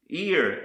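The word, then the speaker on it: עיר: The next word I want to show you is pronounced ear, and this is the Hebrew word for city or town.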